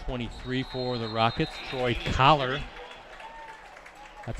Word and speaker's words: Collar: That's number 23 for the Rockets, Troy Collar.